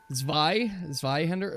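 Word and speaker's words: Zweihänder: I pronounced the T wrong. There's no T in V-Hender. It's V-Hender. Tis V-Hender? Zwei. Zweihender?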